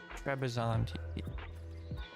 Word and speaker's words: Trebizond: What are the country bonuses for Trebizond? Trebizond.